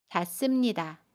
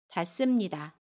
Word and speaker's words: 닿습니다: 동사 닿다에 습니다가 결합한 닿습니다는 닿습니다 라고 발음해요. 받침 디귿은 그대로 발음하고요. 습은 씀으로 발음합니다. 닿습니다.